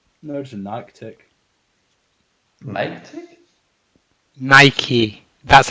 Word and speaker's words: Nike: Nike? Nike. That's how it's actually Oh.